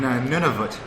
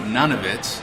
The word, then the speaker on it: Nunavut: on the thermometer, and you actually pronounced it right, Nunavut. Yeah. I was pronouncing it none of it, which is fun to say, none of it, but no, it's none of it, and it's a new territory.